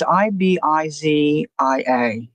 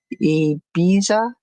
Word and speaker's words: Ibiza: It's Ibizia. It's an island off of Spain, or an island near Spain. I looked it up and listened to how you say it, but now I forget. Ibiza.